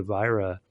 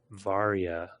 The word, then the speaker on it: Varia: of samus's suit with the virra um varia I always mispronounce that yep um upgrade um